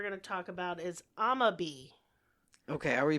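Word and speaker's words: Amabie: So the first one we're going to talk about is amabi. Okay, are we pronouncing that right? Do you know? I am. Okay, great. Or amabi.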